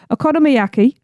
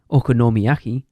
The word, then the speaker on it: okonomiyaki: Aonomiyaki, which is a savory cabbage pancake with filling. So, it's like the John I. That's not how you pronounced it last time. Okonomiyaki.